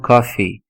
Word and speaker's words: coffee: em inglês drink some coffee você e é Coffee tá não é cof cof é tosse Então você pronuncia Coffee drink some coffee que